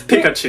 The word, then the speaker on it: Pikachu: name is Pikachu wait wait really yeah it's Pikachu that's how you pronounce it yeah no that poor kid I